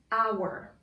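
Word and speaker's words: hour: a consonant letter but i pronounce this word our so the first sound you hear is ah our i'm gonna write an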